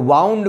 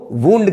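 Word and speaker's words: wound: का पस्त पार्टिसिपल है अगर कहे माइंड मिस लपेटना तो वाउंड मेंस लपेटा यानी की विंड का पस्त पार्टिसिपल बाउंड है और स्पेलिंग वही है जो बूंद की है व ओ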